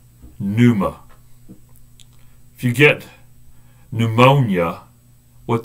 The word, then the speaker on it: pneuma: It's pronounced pneuma. Pneuma.